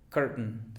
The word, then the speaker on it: curtain: en este caso, important, curtain. Fíjate bien, important, curtain. Es glotal. La T es glotal, curtain, curtain, curtain.